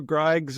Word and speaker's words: Griggs: Griggs is good.